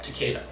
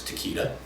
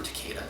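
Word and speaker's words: Takeda: also have another character which is uh teada some of you will hear being pronounced as teita I prefer teada that's me uh but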